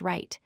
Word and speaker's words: write: The first word is right, pronounced right.